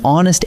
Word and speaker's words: honest: But an hour and an honest answer take an, even though they start with the letter H, because that H is silent.